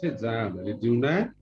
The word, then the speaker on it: Henri Dunant: Okay, I pronounce like this. Henri Dunant.